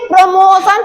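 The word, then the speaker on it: promotion: यहाँ पे देखिए इसको प्रमोशन पढ़ते हैं।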